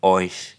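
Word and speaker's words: euch: ओइश।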